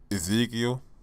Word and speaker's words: Ezekiel: Ezekiel. Yeah, that's how it's pronounced, huh?